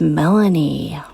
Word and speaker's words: Melani: Felony rhymes with Melanie.